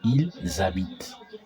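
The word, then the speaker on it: ils habitent: So here there's a liaison. There's a liaison and there's a liaison. So new z a bi ton. Vu z a bi te. Eat z a bi te.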